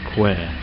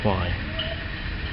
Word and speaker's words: Kwai: And in the background there you can see the River Kwai, which is actually, as we learned just yesterday, is actually pronounced Kwai, not Kwai.